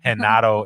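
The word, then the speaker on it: Genaro: i'm i'm latin so my full name is gennaro which is henato in spanish no one could ever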